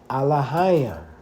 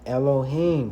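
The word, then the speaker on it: אלהים: I like to say Alahayim, but that's not the correct way of saying Elohim, brothers and sisters.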